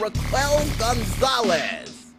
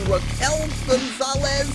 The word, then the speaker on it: Raquel Gonzalez: Now, I've been told before I got the name wrong, and it's actually Raquel Gonzalez, but I see a Q in there, and my brain don't know how to process it, so yeah, Raquel Gonzalez it is.